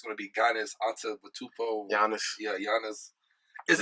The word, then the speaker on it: Giannis: So like the G is silent. The G is silent, and it's like a Y is there, or the IA.